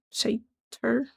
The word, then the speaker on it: Satyr: So it's pronounced Satyr.